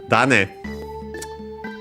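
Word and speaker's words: 種: Uh, and then we have this tan from tan again because it's the second part of a compound of strictly Japanese origin. Tan means uh seed actually accent on the first syllable.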